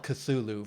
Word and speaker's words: Cthulhu: to call of cthulhu i'm gonna call it cthulhu from here on out because that's the way to say the name i love this song